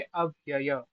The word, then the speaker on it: अव्यय: इस पहले वाले को पढ़ेंगे अव्यय। क्योंकि यहां दो यकार है। एक यकार नहीं है।